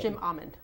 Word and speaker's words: Jim Amend: And it's Jim Amand.